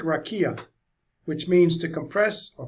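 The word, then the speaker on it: רקיע: The word used in the Hebrew to describe this firmament is pronounced, I think, rakia, which means to compress or pound out and stretch out this arc of heaven in thin metal sheets.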